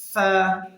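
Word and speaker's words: ف: অংশ এবং মধ্যম অংশ আমরা এই ফাটি উচ্চারণের সময় আমরা আমাদের দাঁতকে আমরা এই ঠোঁটের মাঝ বরাবর রেখে দিব ফা ফা আমরা মুখের সামনে একটু হাত দিয়ে দেখব আমাদের বাতাস প্রবাহিত হচ্ছে ফা হরফটি হচ্ছে কফ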